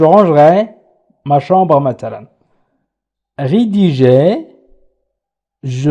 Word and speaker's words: rangerai: ranger يرتب، je rangerai، سأرتب أيضا تقرأ je rangerai، ولكن عندما ننطق نقول je rangerai ma chambre مثلا.